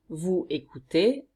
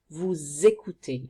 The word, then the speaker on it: vous écoutez: For example, écouter, to listen to, you don't say vous écoutez, but vous écoutez. You have to link this S and it makes a sound Z.